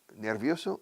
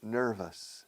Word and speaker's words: nervous: La O-U-S en inglés, o I-O-U-S, us.